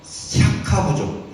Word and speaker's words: 샤카: 대부분 석가모니라고 하는데, 석가모니는 샤카부족. 인도의 샤카. 이게 발음이 샤카예요.